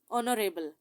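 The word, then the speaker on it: honorable: वो H silent है, इन सब के साथ जो है वो एच जो है वो साइलेंट है, इसलिए ऑनरेरियम, ऑनरेरी, ऑनरेबल, इन सब में ओ का साउंड जो है वो एच को स्किप करके उसे साइलेंट करके तो ओ का साउंड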